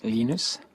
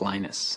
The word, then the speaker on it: Linus: I speak Swedish it's heinous when I speak Finnish it's Lino's when i speak english it's Linus and I really don't